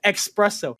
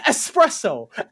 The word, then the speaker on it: espresso: it's like ah sandwiches expresso it's espresso for the entirety